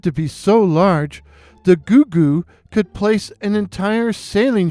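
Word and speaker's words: Gougou: Goooo. Yeah, you you heard that right. Goooo. Go U G O U.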